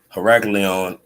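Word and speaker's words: Heracleion: says uh donuts or heracleon heraclion is how you say heracles or hercules which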